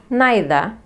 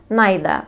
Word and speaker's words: neither: يعني في البريتش accent you can say either neither without the R. طبعا مش هننطق ال R في نهاية الكلمتين. either and neither or either and neither.